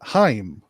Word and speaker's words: Heim: and i did and i thought they were just called hame i thought maybe they were like uh you know they were like big fans of corey haim or something it's uh they pronounce it heim so anyway let me